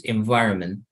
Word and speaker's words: environment: The T, the last T is not necessary to pronounce. So you could like only read like this. Environment.